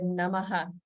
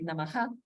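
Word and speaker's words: नमः: And due to the rules of Sandhi in Sanskrit, that Namaha can be pronounced in different ways. It could be Namaha, Namah, Namas, Namo, Nama, with no visarga at all, and so on.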